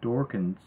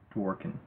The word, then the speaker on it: Dworkin: relation to legal scholar dorkin's Dworkin that's how to pronounce their model his model